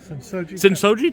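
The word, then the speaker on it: Sensō-ji: not ever going to say it right since Sin soji Sin soji Temple I said it right finally yeah how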